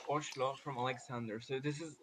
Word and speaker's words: Oslo: i actually learned uh that norwegian pronounced also as ocelo from alexander so this